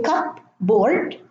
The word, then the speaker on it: cupboard: In the middle of the word, as in cupboard, raspberry, receipt, the P is silent. We don't say cup, board, or raspberry, or receipt. It is cupboard, no P, raspberry, no